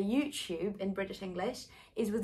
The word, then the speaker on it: YouTube: u sound there so it doesn't sound like to you it sounds like two two basically like number two we also have words